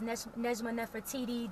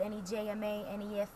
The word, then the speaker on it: Nejma Nefertiti: Yeah, I'm on social media as Nejma Nefertiti, just how it's spelled, Nejma Nefertiti.